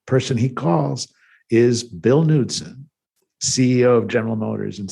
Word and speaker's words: Knudsen: Knudsen, he said, no, that's not how you pronounce my name. He said, you don't call it a Knie, do you? So Knudsen, he pronounced as Knudsen.